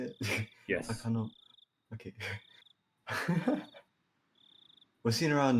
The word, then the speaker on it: Takano: Takano.